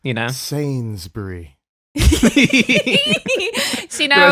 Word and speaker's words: Sainsbury: Sainsbury.